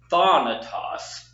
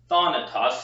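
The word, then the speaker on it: θάνατος: Remember that that alpha makes a kind of an ah sound, like in father. So thanatos, thanatos, starting with the emphasis on the first syllable.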